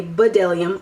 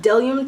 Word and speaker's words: Bdellium: Bdellium Tools, which sometimes people say Bdellium, I'm guilty of that, but they're called Bdellium Tools, the B is silent.